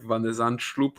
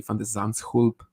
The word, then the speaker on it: Van de Zandschulp: Yeah, still a lot of people say like Van der Zandschulp, which is probably what your natural instinct will be, but it's actually Van der Zandschulp.